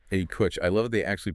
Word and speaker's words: APUSH: You've got AP European history, AP US history, which by the way, the document cheerfully notes is pronounced A Push. A Push.